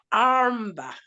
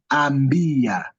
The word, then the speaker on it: ambia: Why are you forgetting the I in between, which is E? Ambia. Oh, okay. Oh, because I was beginning with the first word. I'm looking for, okay. Ambia. E. The I is an E.